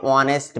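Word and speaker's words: honest: এ অনেস্ট ম্যান। কি এটা? অনেস্ট ম্যান। অনেকে উচ্চারণ করে ভুল করে অনেস্ট ম্যান। অনেস্ট না। কিন্তু আসলে কি হবে? অনেস্ট ম্যান। এই উচ্চারণ নাই। যেহেতু এইচ এর উচ্চারণ নাই।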